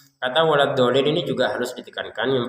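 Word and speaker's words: ولا الضالين: Nah, kalau kita baca tanpa tasdid wal din itu enggak ada tasydid itu berarti. Nah, waladolin padahal ada tasdid. Jadi, waladin ini ada tiga yang perlu diperhatikan. Pertama, tasdid huruf dhad. Kemudian panjangnya huruf dod, dan yang ketiga adalah tasydid untuk huruf lam.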